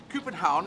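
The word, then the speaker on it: København: bridge between uh copenhagen coopenhaun is how you pronounce in danish i don't know if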